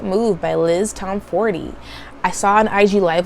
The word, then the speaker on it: Tomforde: talk about is The Right Move by Liz Tom 40. I saw on IG live with her and she says it's pronounced Tom 40 and that everybody pronounces it wrong so keep